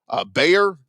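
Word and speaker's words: Gbayor: Another guy at Missouri, Mizzou linebacker Mekhi Bayor, G-B-A-Y-O-R. I'm going to assume the G is silent there.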